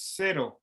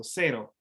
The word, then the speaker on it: cero: Okay, so the C in Spanish sometimes most often it's pronounced like an S in English. So cero.